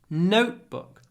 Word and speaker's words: notebook: In English, it's always on the first syllable. Feedback, notebook, rucksack. So be careful with those words.